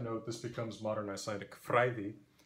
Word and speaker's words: fræði: As a fun side note, this becomes modern Icelandic fræði, because the /o and ash merge in Icelandic as a vowel pronounced I and still written as ash.